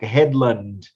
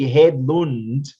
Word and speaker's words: Hedlund: honest, because I think I normally say the Americanized version, like Headland, because I normally see people Hedlund. read it and then that's what they say, but it's actually Hedlund because it's Oh, because Swedish.